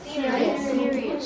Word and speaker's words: serious: Serious. See how the E is at the end of the first syllable.